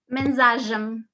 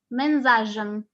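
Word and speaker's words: mensagem: Mensaje is a message in Spanish, but in Portuguese, okay, you say mensajem, mensajem. As you can see, I am pronouncing the sh quite a lot.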